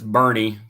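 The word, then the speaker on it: Boerne: high school that's that that looks like born but it's Bernie that's how Germans pronounce it I guess uh just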